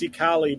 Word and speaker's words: Xicali: I believe that's pronounced Xicali balloons.